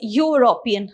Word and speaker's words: European: you see, it is European. Okay, so you pronounce it as U, isn't it? So this is not a vowel sound, it's a consonant sound.